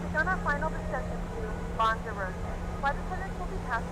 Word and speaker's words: Lanzarote: We have begun our final descent into Lanzarote.